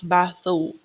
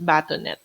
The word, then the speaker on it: bâtonnet: And we also know we will pronounce this one as batho. As you can see here, bathonnet. It's not batonet.